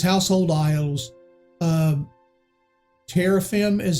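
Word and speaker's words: teraphim: her uh but it says household idols uh terraphim is how it's pronounced is the literally word uh there's a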